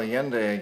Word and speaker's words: Allende: So let's move on to Allende, is that the pronunciation? Mm-hmm. Yeah. Well, Allende again, president of Chile, and Allende went up against a very powerful U.S.